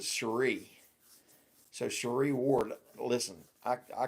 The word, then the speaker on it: Cherie: People still call her Sherry. She spells it like Sherry, but she pronounces it Cherie.